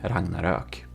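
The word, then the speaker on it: Ragnarök: he is Swedish and um it's called the Ragnarok. Rangnarak. Okay, if you want some pronunciation, there you know.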